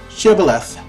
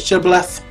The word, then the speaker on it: Shibboleth: would ask them to pronounce the word Shibboleth if they pronounced it right they lived if they pronounced it should left with an H at the end they were killed side note that was